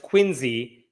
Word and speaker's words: Quincy: this story involves the City of Quincy Massachusetts which I have been told is pronounced quiny sorry if I'm getting that one wrong but in this town